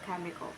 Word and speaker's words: chemical: CH, pronunciation K, example chemical. It means pertaining to the elements and their interaction.